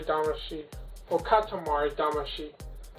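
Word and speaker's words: Damacy: sheet will cut tomorrow dama she is that's how you say it so much he absolutely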